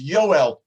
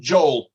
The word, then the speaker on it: Yoel: Now, that particular prophet, that Navi, his name in Hebrew is Yoel. In English, we pronounce it Joel, but his Hebrew name was Yoel.